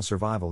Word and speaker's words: survival: accent or stress is in this case the accent is in the second syllable corresponding to Vai below are other ways to pronounce it now let's see how survival is used in real